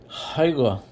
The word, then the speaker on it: Hygge: But anyway, today we're going to be doing what looks like Hygge, but it's pronounced Hygge. Hygge.